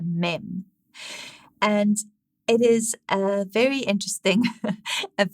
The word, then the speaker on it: mem: the letter mem so phonetically it is m as in mom but it's mem and as i said